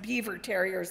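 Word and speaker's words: Biewer Terrier: In fact, she was a purebred Beaver Terrier. Actually pronounced Beaver Terriers like the beavers, right?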